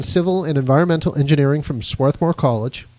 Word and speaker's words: Swarthmore: He has a degree in civil and environmental engineering from Swarthmore College. Swarthmore. Is that how you pronounce that? I always do it with the R silent, but there's a lot of debate about that.